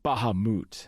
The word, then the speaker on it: Bahamut: It's pronounced Bahamoot. No, actually, I think Cloud's right. It's Bahamut.